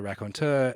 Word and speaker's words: raconteur: And I remember obviously stumbling across the raconteur and thinking, here's a word in English and French, which is pronounced the same.